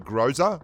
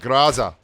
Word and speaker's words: Groza: you get triggered because I don't call it Groza, like as in I grow weed for a living, then that's because you don't like pronouncing things the way they're pronounced in the place where they're pronounced, like Groza.